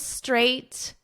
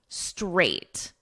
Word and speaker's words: straight: So you just add a str onto the number 8.